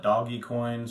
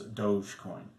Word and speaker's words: Dogecoin: people pronounce it as dogecoin now the easiest way to think of this is you think of luge like a bobsled but the one you